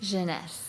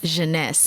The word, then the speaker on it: Genese: Am I pronouncing it correctly? Genese. Genese.